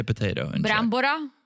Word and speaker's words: brambora: Brambora? Brambora, right?